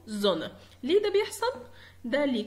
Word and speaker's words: Sonne: لو حد سمع زي حرف الز هي بتقرا اس زي ما انت سمعت في الاول، لكن انا بقراها هنا في الاسم الشمس بقول زونا.